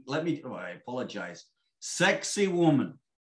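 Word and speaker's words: Sacsayhuamán: me do i apologize sexy woman that's the way that is pronounced in local dialect i'm assassinating it because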